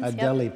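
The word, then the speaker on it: Adélie: other species of penguins are flourishing yep the ad alize how do you pronounce them adelie penguin adelie penguin yeah can you say a word about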